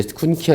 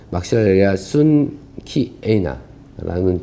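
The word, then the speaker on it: Maxillaria schunkeana: 키우시고 예 얘는 막시 저는 예전에 이제 쿤 키 사실 발음은 막실리아 순 키에나라는 발음이 정확한 거고요 이거는 꽂히면 똑같이 뽑아서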